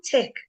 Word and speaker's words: tech: remember uh this one Tech we don't say this ch right the H is silent tech for technology yeah